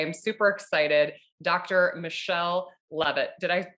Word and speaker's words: Levitt: Michelle Levitt. Did I pronounce that right?